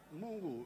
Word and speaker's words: Mungu: Mungu, that's how you say it.